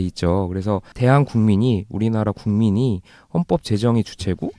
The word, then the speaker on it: 대한국민: 이렇게 어떤 패널분 자꾸 대한민국이라고 읽으시더라고요. 저일 것 같은데. 근데 그게 되게 자연스러운데 네. 이제 헌법 전문을 처음 만든 사람의 의도는 이거였던 거예요. 그러니까 대한민국이 아니라 대한국민. 그러니까 우리가 주체니까.